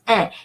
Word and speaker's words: un: So it's un, it's not en, it's un.